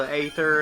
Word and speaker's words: Aether: Tyler, is it Final Fantasy that does the Aether instead of Ether, even though it's pronounced the same?